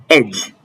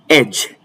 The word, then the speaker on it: edge: Pronounce with me. Handsome, handsome. Edge, edge.